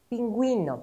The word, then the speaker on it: pingüino: Pero si la letra U tiene diéresis, entonces U se pronuncia. Pingüino, por ejemplo.